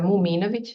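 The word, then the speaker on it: Muminović: my family name correctly it's a muminovic it's a tough one Serbian I just wanted yeah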